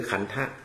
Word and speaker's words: ขันธ์: ก็ คือ ขันธะ นะ พอ เขียน เป็น ภาค ภาษา ไทย ก็ มี ไม้ กรัน หน่อย นึง ก็ อ่าน ว่า ขัน โดย ที่ ท ธง อ่า ก็ ไม่ ต้อง ออก เสียง เป็น ไลน ไป เลย นะ ฮะ ที นี้